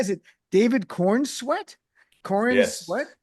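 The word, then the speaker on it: Corenswet: Is it David Kornsweet? Kor what? Is that how you pronounce sweat? It's corn sweat.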